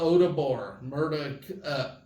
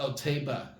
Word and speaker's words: Oteba: Rima Odabor, Rima Oteba. That's the correct way to pronounce her name.